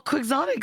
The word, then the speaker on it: quixotic: But no, it's actually just a hard X. Never mind. Oh. Boring. Well, quixotic sounds kind of sexy, I guess.